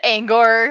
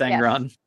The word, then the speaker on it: Angron: say his name is because I kept saying Ang I said angor or something like that what's his name is that angron yeah it's angron okay I see I